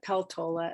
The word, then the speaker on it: Peltola: And what I'm feeling now, and I'm so happy about it, is with Mary Peltola, but Peltola as she pronounces it, with her win, we're seeing the vast majority of Alaskans step up.